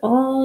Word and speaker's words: all: was all ah all this word has two tricky parts ah oh again the a doesn't sound like itself here it sounds like ah and we know that a sounds like a or a not like ah and this is the tricky part because it has a double we know that when